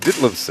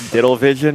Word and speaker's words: Ditlevson: Talked to his wife earlier, who confirmed that it was in fact Ditlevson. Yes. Told a great story about how she confirmed that when they were courting years ago before they got married. What were some of the mispronunciations that she's commonly heard? Diddlevision, I believe, was one of them.